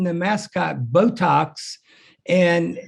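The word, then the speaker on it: Beautox: flair so i decided to name the mascot botox and it's spelled b-e-a-u to put a little cajun twist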